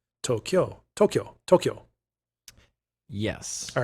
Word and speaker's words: Tokyo: um just yeah like say it like it's two syllables toe kyo kyo that's that i don't know how to say that well it's like q but instead of q you say kyo tokyo tokyo tokyo yes all